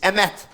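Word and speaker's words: אמת: The word for truth in Hebrew is emet. And emet is spelled aleph, mem, taf.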